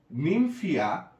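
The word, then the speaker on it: Nymphaea: এরপরে নিমফিয়া, নিম নিম ফিয়া PHAEA, এখানে কিন্তু এই এটা সাইলেন্ট থাকছে, নিমফিয়া নাও চালি, অনেকে কালি বলে বাট নট কালি, শুনতে অড লাগে, চালি নাও চালি।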